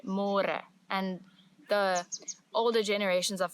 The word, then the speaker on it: môre: It's a little bit easier, but you have to remember to read môre because in English it's spelled like more. So don't say more, say môre.